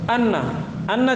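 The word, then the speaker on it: أَنَّ: Atsani, kedua, anna cara bacanya bi fathil hamzati wa tasdidin nun, fathah hamzah dan di tasdid nunnya.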